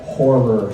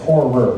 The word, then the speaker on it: horror: give us your best horror scream notice there's two syllables horror not horror scream that's a different scream